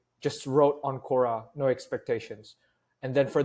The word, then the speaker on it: Quora: I didn't know you did Quora. That's how you say it. Yeah, Cora.